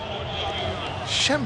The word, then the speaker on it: Schembechler: Schembechler.